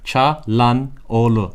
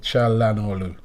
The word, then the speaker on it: Çalhanoğlu: And then you see the OGLU, that's Olu. Çalhanoğlu. Çalhanoğlu.